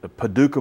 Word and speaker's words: Paducah: I was like yeah the only thing that rhymes with Paduka is bazooka is bazooka yeah yeah